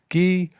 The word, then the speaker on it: Guy: guy forget but in french that is pronounced gui i rest my case the